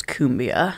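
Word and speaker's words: cumbia: And then I'm pretty sure the pronunciation for that is kumbia.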